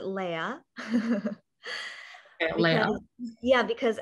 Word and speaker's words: Leah: well, Leah, I pronounce it Leia.